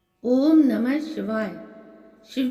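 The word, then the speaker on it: ॐ: उसकी ध्वनि में है उच्चारण में दोनों एक है नासिका की ध्वनि आनी चाहिए ओम संपुट के साथ ओम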